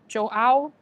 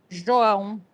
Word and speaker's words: João: So, I guess if you would say it in English, you'll say Jo- Jo- Joal. But, I'm think I'm I'm saying it's a Brazilian name, which is João, which I know it's hard to pronounce, so that's okay.